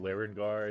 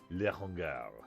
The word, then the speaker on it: Larengar: no, it is intended to be pronounced Larengar. It's just he is very French, and I have not perfected the French accent, so he pronounces it Larengar.